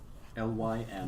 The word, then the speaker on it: Lymura: which is Lymmura. L-Y-M. Lymura.